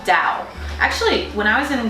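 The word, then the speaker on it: Dão: from a region called Dow. Actually, when I was in Dow in Portugal, they actually pronounce it down, like you're going down, but let's just say it's Dow because it's D-A-O.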